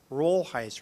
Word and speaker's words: Rolheiser: say my name and I'd say rollheiser I said look it's if you get mixed up it's like the beard just say Budweiser it's close enough so he went up